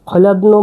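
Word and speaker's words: hladno: এবার আমরা পড়ছি খাবার ঠান্ডা, ইয়েলো যে খলাদ্ন, খলাদ্ন মানে ঠান্ডা। খলাদ্নটা নতুন শব্দ আমি পড়ে লিখে দিচ্ছি। এটা হচ্ছে এইচ, এটা খ উচ্চারণ হবে, এল এ, এটা ডি, এটা এন, এটা ও।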